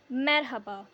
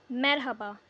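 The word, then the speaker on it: merhaba: अच्छे से इसकी प्रोनाउंसिएशन आ जाए। Hello मरहबा मरहबा repeat after me मरहबा हाउ आर यू नसलसन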